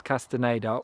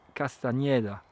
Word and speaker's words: Castañeda: Today I am celebrating Carlos Castanada or I think more accurately pronounced Carlos Castaneda, the writer who is